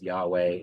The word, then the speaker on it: Yahweh: a note on Yahweh the pronunciation of Yahweh probably is Yahweh it's true that the vows in Hebrew are lost but there is this push to make the name more mysterious than what it is it's probably linked